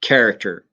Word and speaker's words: character: And the tricky part is the beginning and how to pronounce that. But it's a simple K. So you say it character.